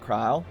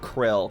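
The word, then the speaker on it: Krile: Uh you wanted to find about your grandfather, right, Kryle? It makes me so upset that her name's pronounced Kryle and not Krill cuz I've been calling her Krill for so long.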